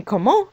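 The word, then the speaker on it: comment: question we don't say even though there is a t at the end of the word we leave off the t when we pronounce the word and say instead however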